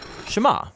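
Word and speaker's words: שמע: is hear or listen which in hebrew is pronounced shema that's where the prayer gets its name now shema is a really common word in the hebrew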